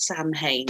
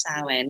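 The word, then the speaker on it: Samhain: passed Salin or some people might call it Sam Hayne but it's pronounced saline which would be um the Celtic end of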